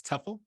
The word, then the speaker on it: TEFL: Is TEFL is the pronunciation of the word, the acronym.